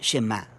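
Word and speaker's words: שמע: La primera palabra del Shema es oye o escucha, y en hebreo se pronuncia Shema.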